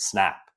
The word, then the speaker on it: SNP: psychology as SNP and we pronounced it snap and we would say snap out of it to each other, right?